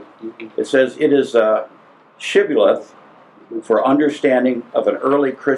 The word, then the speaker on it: shibboleth: And the first group could say shibboleth, the other group could only say sibboleth. So when they would want to cross the Jordan, they'd say shibboleth. Yeah. And if they said it right, they got across. If they said it wrong, they couldn't.